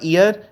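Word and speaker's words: heir: में भी लिखें साथ एच ई आई आर तो इसका मतलब होगा ईयर एच साइलेंट है तो ईयर का मतलब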